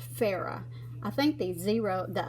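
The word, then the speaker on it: Phoera: I think it's pronounced fairer I think these zero the O in there isn't the zero the O in there is silent pH o er a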